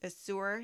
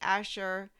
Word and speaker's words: Azure: Another option is to join a co-op such as Asher, which I used to pronounce Azure.